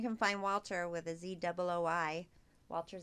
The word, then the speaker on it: Zooi: And you can find Walter with a ZOOI, Walter Z. Walter Z. How do you say it again? Zooi. Zooi. I got it. Like soy. Zooi. Yeah, like soy.